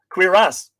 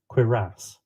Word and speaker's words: cuirass: Cuirass. I was close. Yes. Let's hear that again. Cuirass. Cuirass. Yes, very excellently pronounced.